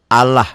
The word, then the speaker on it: Allah: A'udzu bi lafaz Allah ini dibacanya tipis. Bunyi A ya, jangan bunyi O tapi bunyi A. Allah, bismillah ya, jangan bismillah.